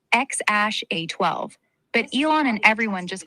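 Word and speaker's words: X Æ A-12: His full name is X A X, pronounced kind of like X ash A12, but Elon and everyone just calls him X or Lil X.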